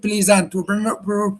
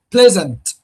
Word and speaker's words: pleasant: But we do not pronounce it pleasant. We pronounce it pleasant. So where where does the syllable lie? Where does the stress lie? The stress lies here on the first syllable.